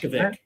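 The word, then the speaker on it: Vušković: Boshkovic. Well, But okay, I so think here's the thing though.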